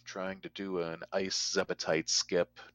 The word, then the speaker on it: Zebetite: And I usually often refer to those with the full 3 syllables, Zebetite, because Zebs are another enemy in the game.